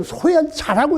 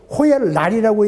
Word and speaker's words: 호열랄: 근데 자자는 우리가 이걸 호열자라고 읽어버렸어요. 사실은 일본 사람이 만들기에는 호열라를 코렐라니까 호열랄로 만들었는데 우리가 착각을 해서 그걸 자자로 잘못 읽은 거예요. 자자에는 그 입구의 마지막 그 아래 획이 없습니다. 그러니까 사실은 이건 호열날이라고 읽어야 하는데 호열자라고 읽어서 해방 후 참 저도